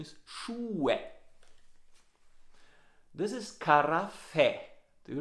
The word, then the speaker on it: Schuhe: Ja, die Aussprache, the pronunciation is Schuhe.